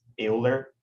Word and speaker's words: Euler: But in Portuguese is Euler.